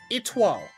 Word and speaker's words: Étoile: Do you pronounce the name Étoile? It's French. Étoile. Okay, so I was pretty close.